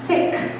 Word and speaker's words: Sikh: bracelet he has a silver but he's a sikh or she's a sikh so that's one way of saying it the other thing that i'm saying wrong is i'm pronouncing it when it's really pronounced sick so in sikhism people call it sikhism and